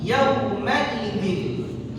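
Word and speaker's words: يومئذ: Perhatikan juga yawma idzin. Yauma idzin. Jangan nanti yauma, jangan yauma. Beda antara yauma dengan yauma. Kalau kita baca yauma, diseret bacanya, kurang tepat.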